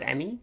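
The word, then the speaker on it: EMMI: enemy will be possible oh they pronounced emmy okay let me send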